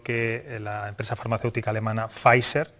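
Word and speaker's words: Pfizer: la empresa farmacéutica alemana facer que es como se pronuncia ahora dice que esta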